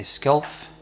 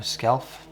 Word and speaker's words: Skjalf: An Icelander would probably say Skjalf or Skjalf. I'm not Icelandic, but I'm Norwegian, and like I said before, I use the Norwegian pronunciation.